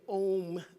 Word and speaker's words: Om: often it's Alm and that's how we really pronounce it as aom the a-u-m which we say om together and we see that every Sunday here